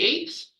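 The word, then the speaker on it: Aett: divided into three groups of eight called the eights very creatively it's spelled AE t t but it's pronounced eight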